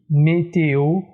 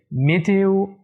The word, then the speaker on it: météo: la ville 1 alors faites attention à la prononciation de chèques lettre d'une manière suffisante on dit météo si on dit les tuyaux mithieux alors on